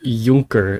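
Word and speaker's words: Juncker: Junker.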